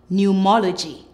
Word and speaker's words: pneumology: be looking at PN when you see PN in a word the p is silent PN says n let's go ponia pneumonia newmatic pneumatic new mology mology now let's look at